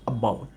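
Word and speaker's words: about: না বলে আমি বলছি অ্যাবাউট। তার মানে প্রথম দিকে কিন্তু খুবই এটা উইক হয়ে যাচ্ছে, এটা দুর্বল হয়ে যাচ্ছে।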